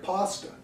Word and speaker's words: pasta: note in the text, like pasta. I always think pasta for some reason when I read it. I don't know why, but I don't want to say it wrong when I'm performing, so I write myself a note that it rhymes with rasta.